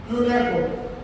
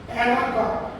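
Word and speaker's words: Unoka: Unako. Unako is the father of Akamko. Unako is the father of Akamko. You can pronounce like Anaka. Anaka also another pronunciation. Otherwise, Unaka, Akamko.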